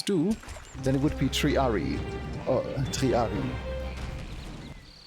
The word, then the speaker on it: Triarii: Yeah, like in any Latin I have learned, it's not triarii, because that's how you pronounce it in English.